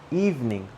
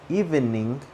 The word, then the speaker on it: evening: Evening. 2 syllables, not 3. It's not evening. Evening. It's evening.